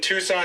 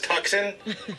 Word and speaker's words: Tucson: Should I pull the clip of you pronouncing Tucson as tuxen?